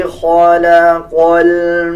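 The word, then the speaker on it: خلق: ख़ा मोटे हरूफ में से आता है, ख़ा को पुर पढ़ा जाएगा। अल्लज़ी ख़लक़ल मौत वल हया।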